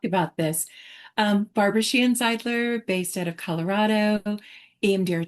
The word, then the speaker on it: Zeidler: our guest, Barbara, and I always say her name wrong. Is it Zidler with an I? Zidler.